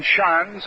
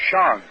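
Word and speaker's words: Schanz: ago the difference between Shans of Boston and Shantz of Philadelphia. Shans of Boston spells his name S-C-H-A-N-Z, and it's pronounced as though there were a W in it. Charlie Shans.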